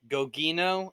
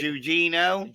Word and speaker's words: Gugino: Carla Gugino Gogino. I'm or sorry, Gugino. Gugino.